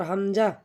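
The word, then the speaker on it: همزة: এরপর হামজা, হামজাও আমরা হলকের শুরু হইতে উচ্চারণ করব হামজা, হামজা।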